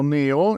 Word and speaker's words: Neo: dji neo o meglio preferisco pronunciarlo neo in italiano un nuovo mini drone